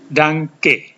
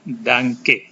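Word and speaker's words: Danke: diucapkan itu orang mengatakan Danang ke Danang ke ada n dan K dibaca ng GK sudah diajarkan kali lalu Artinya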